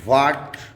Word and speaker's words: what: तो उन relative pronoun का और आपके इंटेरोगेटिव प्रोनाउन में एच साइलेंट रहा करता है, जैसे कि WHAT वाट, ना कि इसमें आप एच की स्पेलिंग बोलेंगे, एच के प्रोनाउंसिएशन को बोलेंगे।